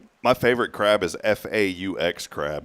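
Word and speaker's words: phở: Yeah, everybody says fo, but it's fa.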